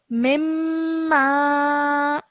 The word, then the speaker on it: مما: First of all, this is highlighted because this is mim gunna. So mimma. مما.